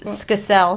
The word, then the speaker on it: Skacel: No, it's Skacel.